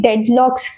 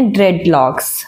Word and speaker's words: dreadlocks: चाहती हूँ कि ये डेडलॉक्स या ड्रेडलॉक्स ये क्या होते हैं, कैसे किए जाते हैं, क्या ये टेम्परेरी होते हैं या परमानेंट? तो इसका राइट प्रोनाउंसिएशन है ड्रेडलॉक्स, ठीक है।